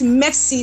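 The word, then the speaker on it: MEXC: C some call it Mex C some call it Mex and I went there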